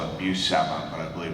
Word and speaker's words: Buscema: I always call it Buscema, but I believe it's pronounced Buscema. No, you were right. Buscema.